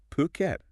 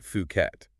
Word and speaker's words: Phuket: pronunciation right yes please it's puket not fukat exactly and we know